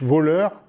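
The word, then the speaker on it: Wöhler: comme une molécule organique ce n'est pas un voleur c'est juste son nom de famille ça se prononce voleur voilà je me dis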